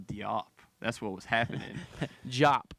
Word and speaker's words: Diop: that's what was happening jop by the way pronounced jop I don't he shouldn't